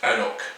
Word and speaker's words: anCnoc: it a wee taste so our knock is pronounced anok like that and that means the hell in gaelic the distillery knock do was established in 1894.